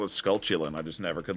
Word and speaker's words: Skulltula: Skulltula.